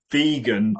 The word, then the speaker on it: vegan: So it's vegan plus January, Veganuary.